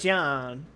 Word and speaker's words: Jean: remind me is she is she a gene or is John huh okay you can pronounce it either way the game does both all right DeJean uh